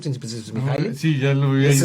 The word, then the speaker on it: Mihaly: Por eso Mihaly, que falleció de la Universidad de Chicago, como es checo me cuesta la pronunciación, es Mihaly.